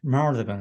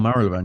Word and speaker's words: Marylebone: I had to get my uh, mouth around Marylebone. It just took me a while to oh get. Marylebone, yeah, There's no yeah, Y pronunciation.